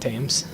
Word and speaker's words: Thames: I like how I said it as Thames and not Thames, because that's how it's pronounced, everyone. It's pronounced the Thames.